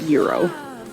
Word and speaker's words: gyro: Do you pronounce it gyro or euro? You pronounce it euro.